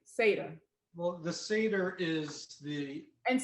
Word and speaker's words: seder: around the table and you were having sadar before you ate and and no the whole thing is called a seder the whole whole thing